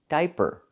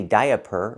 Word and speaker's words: diaper: I that's the long i like high and by di. Diaper. Diamond. We don't say diaper or diamond. We say diaper and diamond. One vowel, one sound.